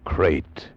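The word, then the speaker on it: krait: what kind of a guy Harry Pope was and what kind of a snake a crate is. First, the crate. You spell it K R A I T.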